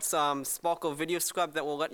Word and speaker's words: Sparkol: It's called Sparkle Video Scribe. Spell that?